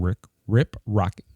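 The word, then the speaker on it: Rip Ride Rockit: But we did want to talk about that there's a rumor floating around that Universal might be closing Rip Ride Rocket.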